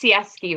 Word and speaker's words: Sieski: this way too perfect yeah perfect so it's pronounced siesty right yes yeah awesome how are you doing